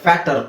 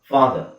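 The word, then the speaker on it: father: ಇಲ್ಲಿ ನೋಡಿ ಫಾದರ್ ಫಾದರ್ ಒಂದು ವೇಳೆ ಇಲ್ಲಿ ಎಚ್ ಈ ಆರ್ ಇಲ್ಲ ಅಂದ್ರೆ ಏನಾಗುತ್ತೆ ಇದು ಫ್ಯಾಟ್ ಆಗುತ್ತೆ ಫ್ಯಾಟ್ ಸೊ ಇದನ್ನ ಹಾಕಿದಾಗ ಏನಾಗುತ್ತೆ ಫ್ಯಾಟ್ ಹರ್ ಆಗಲ್ಲ ಫ್ಯಾಟ್ ಹರ್ ಬಿಡಿಸಿದರೆ ಏನಾಗುತ್ತೆ ಫ್ಯಾಟ್ ಹರ್ ಕೂಡಿಸಿ ಓದಬೇಕಾದ್ರೆ ಫ್ಯಾಟ್ ದರ್ ಅಲ್ಲ ಫಾದರ್ ಫಾದರ್ ಸೊ ಆ ಎ ದ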